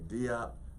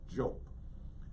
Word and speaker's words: Diop: Now, in our English pronunciation, we say Diop, but I understand that the correct pronunciation is Jope.